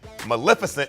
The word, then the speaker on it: Maleficent: doug in honor of angelina jolie's new movie maleficent and yes that is how it's pronounced we take a look at some of